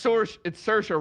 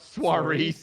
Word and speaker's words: Saoirse: It's Saoirse. Yeah, I think it's Soares. But it's like that. I think it's all right. First of all, it's Saoirse Ronan, not Soares.